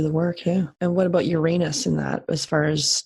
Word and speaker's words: Uranus: I pronounce that wrong then Uranus Uranus okay I said it was Uranus No well you can say it like that anyway you're an assembly bruh